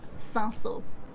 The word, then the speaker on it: Cinsault: The spelling is a bit crazy, but the pronunciation is 100% Cinsault.